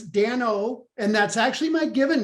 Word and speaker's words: Dano: people struggle with my name uh so it's dan o and that's actually my given name my uh